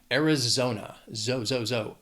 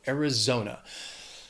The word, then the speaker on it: Arizona: It has 4 syllables. The stress is on that third syllable. Arizona. Arizona. Not much to say about Arizona, except it's hot.